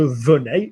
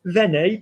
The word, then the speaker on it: venais: So well done, it would be je venais, not venez, because you do not pronounce the verb venez.